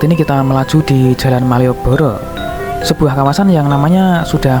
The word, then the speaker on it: Malioboro: Kalau tulisan bahasa Indonesianya Maliabara gitu ya, tapi kalau di bahasa Jawa bacanya bisa Malioboro, yang berarti untayan bunga.